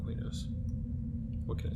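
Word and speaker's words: Qeynos: know some people that's another one that people don't like the pronunciation of i call it queenos what can i say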